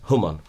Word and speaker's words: Khamenei: My father-in-law asked me to pronounce his name right. The Iranians really, like a lot of Iranians, his name is Khamenei.